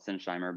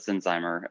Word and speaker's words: Sinsheimer: was uh yeah and most people call it sinsheimer but uh but the families always called it sinzheimer um and and that